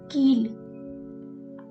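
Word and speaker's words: कील: example of it is keel i am putting more stress on e here keel pronounced as means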